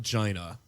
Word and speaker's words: Gina: me Alex and I'm China um knew your name Gina oh it's spelled GI na but it's pronounced China it's hot I love